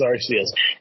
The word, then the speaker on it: Arceus: Pokemon Legends Arceus. And I know it's pronounced Arceus, whatever.